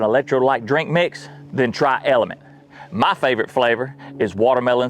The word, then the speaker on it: LMNT: Element, pronounced element, it's health through hydration.